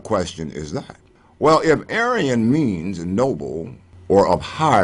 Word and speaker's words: Aryan: as it were to pronounce the beliefs in and history of the mythical Aryan phonemically the same as arianism now why do I